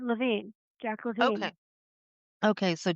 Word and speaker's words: Levine: Victoria wrote this, and this is Jack Levine, or is it Levine? I have my own language. No, well, it depends on what part of the country you're in, I think. But he pronounced it Levine, Jack Levine.